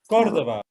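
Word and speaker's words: Córdoba: The Cordoba is on the first syllable. Cordoba.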